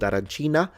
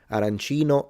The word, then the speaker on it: arancino: So if you're in the east of Sicily, call it in the masculine. Arancino, arancini.